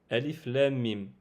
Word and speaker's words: الم: C'est-à-dire que nous allons prononcer la lettre Alif normalement, mais le Lem et le Mim, on va les prolonger de 6 temps. Ce qui donnera Alif Lam Mim.